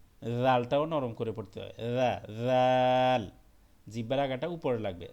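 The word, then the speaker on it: ر: রা, জাল, জিহ্বার আগাটা উপরে লাগবে, রা, জাল। র, এটা রা হবে না, এটা হলো র, র।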